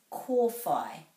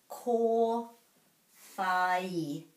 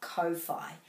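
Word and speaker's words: kōwhai: breaking at every valve core fie rhymes with kai so anything with a i will rhyme with that i and there's a macron over the o so it's definitely not ko phi core phi core phi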